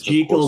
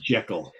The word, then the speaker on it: Jekyll: Hyde rather than J, because that is the Scottish pronunciation. And Robert Louis Stevenson, it's Jekyll, not Jekyll.